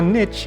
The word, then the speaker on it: niche: anyone brings it up there are two pronunciations of the word Niche or Niche one's British and the other American and I'm calling it nich because that's what the developer is calling it either way it looks